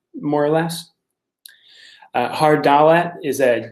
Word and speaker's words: Dalet: So hard pronunciation of Dalet is the D, and